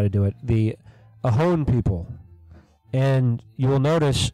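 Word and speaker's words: Ohlone: to do it the ohon people and you will notice if you look it up it's spelled o h l o n e but the l is silent and the reason for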